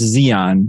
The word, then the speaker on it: Zion: name like mine where my name is pronounced Zeon it should be probably